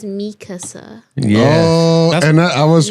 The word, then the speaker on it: Mikasa: It's not Makasa, it's Mikasa.